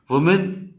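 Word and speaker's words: woman: वुमेन singular को बोलते हैं, विमेन प्लूरल को बोलते हैं, ठीक है।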